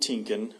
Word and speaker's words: Tienken: We had Lavone Tinkin, which is spelled Lavone, last name Tienken.